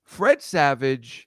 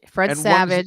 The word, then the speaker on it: Fred Savage: Fred Savage. Did I say it wrong? No, you said it right, but I think that he has a brother. One's in Wonder Years, and Fred one's Savage. Fred Savage.